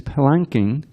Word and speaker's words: palanquin: You certainly appear very fatigued because you have carried this palanquin." By the way, that's how you pronounce it.